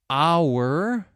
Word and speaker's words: hour: Okay, did you hear the silent H there? Honestly, H-O-N-E-S-T-L-Y, honestly. Our, H-O-U-R, the H is silent.